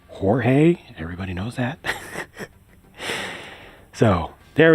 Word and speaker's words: Jorge: very clearly in the game his name is pronounced George I always get the actually Jang it's pronounced Jorge everybody knows that so there we go Spartan